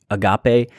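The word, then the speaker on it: ἀγάπη: Sometimes you may have been accustomed to hearing agape. Use it however you want. I think the actual pronunciation is agape.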